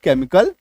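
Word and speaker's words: chemical: सीएच के बाद तो इसको आप ऐसे समझ लीजिए कि सी + ई एम = क सी + ई एम = क सी के बाद ई एम आएगा तो उसका उच्चारण भी क होगा।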